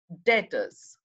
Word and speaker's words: debtors: your question and look on the asset side debtors again this is pronounced as debtors please don't pronounce it as